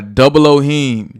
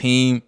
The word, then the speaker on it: 00hiem: Oh man, I go by Double Ohim. Double O. 00, the numbers, like the actual numbers. Yeah. HIEM. A lot of people spell it HEIM. H-E-I-M. I guess that's kind of like that's how it's pronounced. Heme. People, Yeah. Okay. but mine is like HIEM. Word. Double Ohim. If you see me in the streets, you can call me Heme.